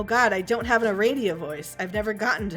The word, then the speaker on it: Aradia: I'm not pronouncing it like that, because it's Aradia.